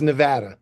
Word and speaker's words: Nevada: I don't want to say Nevada because I get in trouble. Nevada. Am I saying it right? It's Nevada. Yes, Nevada. New York. It just doesn't come out right.